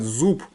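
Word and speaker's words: זופּ: вот, в действительности будет, правильно сказать, зуб. Вот я тут напишу. Зуб. Вот. Почему? Потому что суп это в разговорном таком, на улице можно крикнуть там все, но литературное зуб считается. Зуб. Вот. Пей в конце. Вот. Не бейс, а пей.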